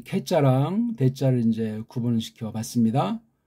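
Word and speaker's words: καί: 그러니까 이게 현대에서는 이걸 갖다 애자에 가깝게 발음들을 하잖아요. 그래서 이거 캐 그래요.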